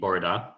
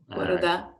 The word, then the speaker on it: bore da: So good morning would be Borada. So Borada. Borada.